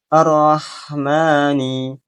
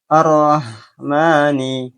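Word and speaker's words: الرحمن: Seharusnya ro dibaca dengan tebal atau tafkhim. Contoh yang salah. Arrahman arrahmani. Arrahmani. Contoh yang benar adalah dengan menebalkan huruf ro, yaitu mengangkat pangkal lidah ke langit-langit.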